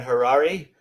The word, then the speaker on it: Harari: me I am Harari my last name rhymes with Ferrari that's how I remember